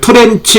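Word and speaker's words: tranche: 만약에 지문에 여러 계층 이걸 트렌치 이렇게 영어로 트렌치라고 발음을 합니다 해서 10번은 맞는거다 이렇게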